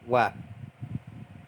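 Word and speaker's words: وَ: Tadi kita juga menemukan huruf ww ya yang di fathah Bacanya adalah wa wa ini artinya adalah dan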